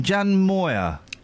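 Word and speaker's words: Jan Moir: Jan Moyer.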